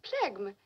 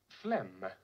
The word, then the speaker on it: phlegm: The plegm. Phlegm. PH is always pronounced as F. You don't sound the G.